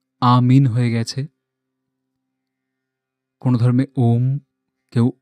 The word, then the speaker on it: ওম: ওম শব্দটি কোনো ধর্মে আমিন হয়ে গেছে, কোনো ধর্মে ওম, কেউ ওং, বিভিন্ন রকমভাবে উচ্চারণ করেন। আসলে এটি ৩টে শব্দের সমন্বয়, আ, উ আর উম।